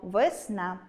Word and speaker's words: весна: Погляньмо на звукопис слова весна . Наголос падає на [a], а звук [е] ненаголошений, у слабкій позиції, а отже, у вимові наближається до [и], і врешті ми чуємо вИсна.